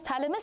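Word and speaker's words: Chthamalus: you pronounce it as thalamus C is silent over here and there were barcles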